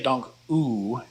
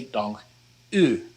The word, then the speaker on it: dank u: The u here is not like the double O in English. You don't want to say dank u, and you don't want to say dank you either.